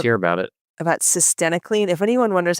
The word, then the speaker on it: cytisinicline: About cytisinicline. If anyone wonders how to pronounce it, it rhymes with varenicline. This was a article titled Cytisinicline for Smoking Cessation, the ORCA Phase 3 Replication Randomized Clinical Trial.